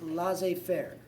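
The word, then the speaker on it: laissez-faire: to help you in French that is actually pronounced La Fair the government is going to take their hands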